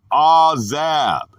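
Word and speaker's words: עזב: The word is azab, pronounced azab, a primitive root to loosen.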